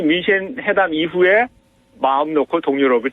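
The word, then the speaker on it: München: 그러니까 이제 독일식 발음 민헨. 그리고 우리가 알고 있는 민헨, 그죠?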